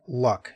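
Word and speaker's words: Lugh: It's also possible they are a historically around the 12th or 14th century, I guess, a recharacterization of the Celtic god Luck. It's spelled L-U-G-H.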